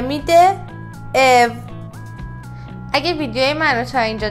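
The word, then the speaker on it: ı: بعدی حرف ا هستش این حرف متفاوته و معاد فارسی نداره پس خوب به صداش دقت کنید او او او او بچه‌ها برای اینکه این حرفو راحت تلفظ کنید باید اینو در نظر داشته باشید که دندوناتون به هم بچسبونید و از ته گلو تلفظش کنید او این حرف یه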